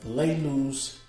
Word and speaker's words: Lalu's: have here you see right here laylee's treasures this is how you pronounce it we got francine frankincense